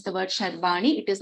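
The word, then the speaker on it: शर्वाणी: It is Sharvani. It is not Sarvani. If you are referring to the name of, there's a question on how to pronounce the word Sharvani.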